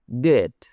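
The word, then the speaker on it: debt: ডেট। এখানে be silent.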